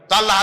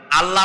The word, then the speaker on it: আল্লাহ: কি করি তিনি টের পান না অবশ্যই টের পান এটি আমাদের মনে রাখতে হবেতো আল্লাহ তালা তার উপরে আমাদের বিশ্বাস হচ্ছে এই যে তিনি আরশে আরশে আরশে আছেন এবং তিনি না জানেন না দেখেন এমন কিছু নাই।